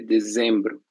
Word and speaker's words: dezembro: seriam outubro, novembro e dezembro. A ver, escrevi duas letras V. Então, outubro, novembro e dezembro, né? Muito bem. Lembrem-se novamente sobre o som da letra Z, certo? Dezembro é o som Z, OK?